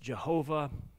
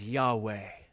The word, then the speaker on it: Yahweh: It consists of the consonant clusters YHWH, sometimes pronounced Jehovah, perhaps more often as Yahweh.